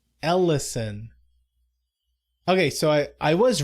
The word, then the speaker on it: Ellison: Haron Elizen. Is that not how you pronounce his last name? Ellison. Ellison.